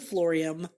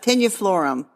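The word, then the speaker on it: tenuiflorum: butchered that one because I think it's florum you said florium Well it's tenui I looked it up tenu florum yeah tenu florum AUM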